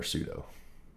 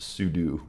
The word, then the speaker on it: sudo: basically that doesn't require pseudo. Yep. So, let's just copy this. I think it's actually pronounced sudo technically, but I always say sud p s p s